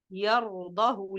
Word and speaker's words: يرضه: Regardez ici, le ha il est précédé avec une voyelle et il est suivi avec une voyelle, c'est-à-dire que je dois faire la liaison. Mais selon la récitation de Hafs, la liaison ici, elle est tombée. Ce mot a respecté toutes les conditions de la liaison, mais on n'a pas appliqué cette liaison-là.